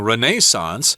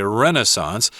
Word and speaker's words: Renaissance: not mistake can uh you will hear English people saying Renaissance but Americans say Renaissance and a masterpiece of